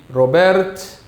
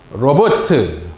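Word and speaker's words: Robert: 그 고고학자 이름이 로베르트 콜데바이라고 합니다. 로베르트 콜데바이라고 읽어요. 이게 미국 사람이나 영국 사람 같으면 로버트 이렇게인데 독일 사람이니까 로베르트 이렇게 읽습니다.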